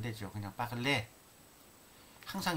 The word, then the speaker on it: parler: parler, a이은때에서 은때는 발음이 안 되죠. 그냥 parler.